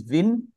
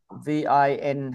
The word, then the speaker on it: Vinh: start with the first guy he's name is Vin yeah v i n h hang on let just me a little